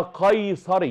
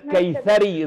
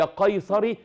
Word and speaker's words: قيصري: اولا اسمها قيصري بالقاف والصاد. أيوة. قيصر. وليست كيثري زي ما حضرتك نطقتيها بالكاف والساء، هي قيصري نسبة الى قيصر.